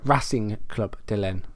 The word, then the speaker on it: Racing Club de Lyon: We're against Racing Club de Lyon, or Racing Club de Lyon.